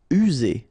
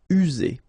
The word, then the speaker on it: user: User. Remember only one S here, and you get two vowels, so it's Z. User.